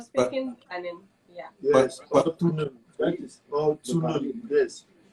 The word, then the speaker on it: Tunen: Okay, so how do you spell that language? What's the spelling? T-U-N-E-N. Oh. That's the correct form. Okay. That's the correct form. Tunen?